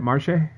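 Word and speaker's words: Marshe: they're all gone uh marsha marshay rocket is that how you say it marche yeah uh worked in the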